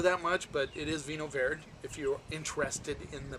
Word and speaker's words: Vinho Verde: I used to call it Vinho Verde all the time, and, you know, it doesn't matter that much, but it is Vinho Verde if you're interested in the pronunciation of it.